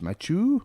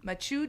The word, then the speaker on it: Mathieu: Matt Mathieu Joseph. Mathieu? Yeah. Yeah, just with a just a little bit of a French flair on the first name. out the lips. Mathieu. Mathieu Joseph.